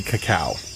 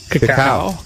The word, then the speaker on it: cacao: Anyway, I think the pronunciation might be cacao. cacao. Like Cacao. Cacao.